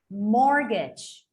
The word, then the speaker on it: mortgage: so let's continue that the letter t would be something quite similar okay just don't pronounce it let's say apostle paul